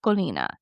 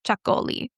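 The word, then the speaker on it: Txakolina: And as I say it, it looks nothing like what how you say it when it's spelled. It is tx a k o l i n a. It's also sometimes called chakoli. And then that's just doesn't have the IA at the end.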